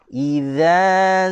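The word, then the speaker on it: إذا: Jaga huruf dzal, jangan kita baca dengan huruf zai. Jangan. Huruf dzal, cara bacanya adalah dengan cara keluarkan lidah. Idza zulzilatil. Ini jangan kita baca seperti ini, tuan-tuan. Dua huruf ini makhraj dia berbeza. Ini keluar lidah, ini tidak keluar lidah.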